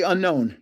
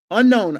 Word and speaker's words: Unown: Okay, to enter the giveaway on any video, just say unknown. UNOWN. Unknown on any giveaway. Just say unknown. UNOWN. Don't spell it wrong.